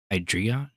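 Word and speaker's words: Hydreigon: getting real creative with the name or it it's spelled differently it's h y d re e i g n hydreon hydreon hydreon EI is like like M like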